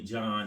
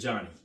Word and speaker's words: Johnny: I'll spell it, but I'm not gonna mess it up because I don't want people jacking my name and calling me John and stuff like that. So my name is Johnny.